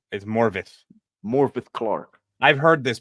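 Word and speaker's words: Morfydd: It's actually pronounced Morvith in Welsh. F equals V and double D equals TH.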